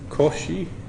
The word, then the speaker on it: Cauchy: saying with the Coronet correct pronunciation it would be Cauchy because he's the British Cauchy it's really funny because